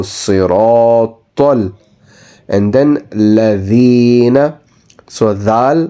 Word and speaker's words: صراط: So ra and ta is slightly rounded mouth. So صراط.